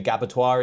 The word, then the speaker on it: Gabbatoir: The reason why it's called the Gabotoire is because it rhymes with abattoir.